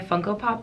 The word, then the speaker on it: Funko Pop: thought I'd be a Funko Pop collector. I said it right this time, Funko Pop.